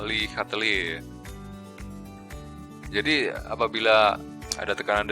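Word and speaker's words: Le Chatelier: persi-p kesetimbangan ada dari ilmuan Prancis lihatli bacanya lihatel Ya jadi apabila ada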